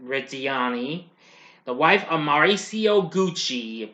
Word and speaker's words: Reggiani: The film has a pretty big cast that stars world-famous pop star Lady Gaga as Patricia Reggiani, I mispronounced that. Reggiani, the wife of Mauricio